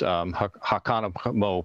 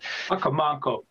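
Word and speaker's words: Hocomonco: And as you extend down towards the south, it blends into a wetland system that runs to the south towards Hakanamo Pond. Forgive my pronunciation, is one I've always had trouble with.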